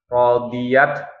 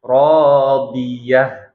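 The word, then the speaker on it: رَاضِيَة: Ketika huruf terakhirnya ta marbutoh, maka kalau waqaf itu jadi huruf ha-nya disukunkan ya. Jadi bukan radiat ya, kalau ta ta'nis kan dibacanya radiat ya. Ini jadi ha-nya ha dhamir dan sukun. Radiatan. Itu kalau misalkan tidak waqaf, tapi kalau waqaf jadinya radiyah. Nah, ya. Jadi bukan radiat tapi radiyah.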